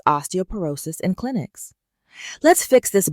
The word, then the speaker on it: osteoporosis: Example in a radiology report the patient has severe osteoporosis o r o s cis with tcore -3.2 too. Let's start pronounce again. Osteoporosis. Osteoporosis.